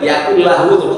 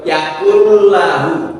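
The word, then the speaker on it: يَكُن لَّهُ: Yang kedua kata adalah lam bertasdid dibaca tidak bertasydid ya. Yakulahu. Nah, kalau membaca lam itu harus diadirkan. Jadi bukan yaakulahu tapi yaakul lahu karena lam itu mempunyai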